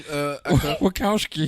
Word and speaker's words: Wachowski: How do you pronounce their name? Wachowski.